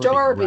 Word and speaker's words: Derby: which is Pronounced Darby, right?